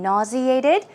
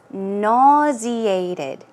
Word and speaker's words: nauseated: Remember, they were talking about feeling sick and nauseated. So the pronunciation is nauseated. Nauseated. It's nauseated or nauseated. 그런 발음도 있어요. So some people say nauseated. I say nauseated.